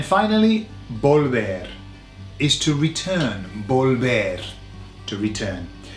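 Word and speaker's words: volver: bolder is to return bulbar to return and bolber sounds like the car volvo i think it's pretty international or multinational type of vehicle volvo so imagine that you're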